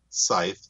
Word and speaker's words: scythe: Scythe, yes. C is silent.